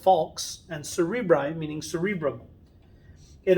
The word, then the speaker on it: falx: the hemispheres that's called the falx cerebri falx pronounced falx and cerebri meaning cerebrum it is a fold